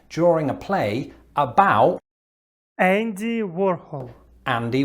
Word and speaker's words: Warhol: a play about andy warhol andy warhol andy warhol so there's a slight difference there in the sort of last vowel yeah i put hole in his name there's no e ah now this is